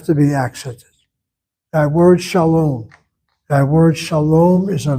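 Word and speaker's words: שלום: You see that word shalom? I spell it with the last syllable. Long vowel is closed. A long vow in a closed syllable is not regular. It has to be accented.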